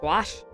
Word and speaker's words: gouache: I keep thinking the brush I want is the oil paint, but it's not, it's a gouache. Which, yeah, that's how you pronounce that word.